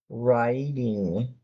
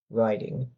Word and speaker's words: writing: Irritable is more of a fluent Pronunciation number 16 is riding. You can start that as raiding. Riding. In the United States, that T is probably going to sound more like a D. Writing 17 gives many students difficulty.